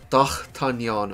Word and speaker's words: d'Artagnan: of it as well it's supposed to be pronounced something like doc Canyon or something like that but I can't do it because I'm not French yeah I have one